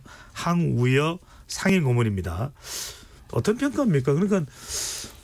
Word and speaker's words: 황우여: 당선인 총회가 열렸는데 비대위원장 우여 우려로 하면 안 되죠 항우 여로 발음을 해야 되죠 그죠 황우여 상인 고문입니다 어떤 평가입니다